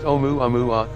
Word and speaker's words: Oumuamua: It was clear from the start that Oumuamua, pronounced Oumuamua, would shake up astronomy's status quo.